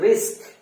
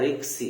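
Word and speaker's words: risk: এই শব্দটির উচ্চারণ হচ্ছে রিস্ক, আর আমাদের দেশে ভেরি স্মার্টলি, ভেরি কারেক্টলি বলা হয় রিক্সি, রিক্স বলা হয়। ডিয়ার ভিউয়ার্স, আমরা আজকে থেকে এই ভুলটা করব না। এর উচ্চারণটা হচ্ছে রিস্ক। আবারও বলি আমরা, রিস্ক নট রিক্স, রিস্ক নট রিক্স।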